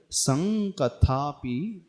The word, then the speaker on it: संकथापि: है उसके बाद संकथापि, स के ऊपर वैसे अनुस्वार है और उसके पश्चात कथा है, क है, तो उसे कैसे उच्चारण करेंगे? हमें उसका उच्चारण कंठ और नासिका के माध्यम से होता है। तो त्वत् संकथापि ऐसा पढ़ेंगे इसको।